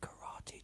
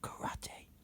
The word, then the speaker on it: karate: Karate. Okay. If you say karate like Americans, you say it wrong, because karate means empty hand.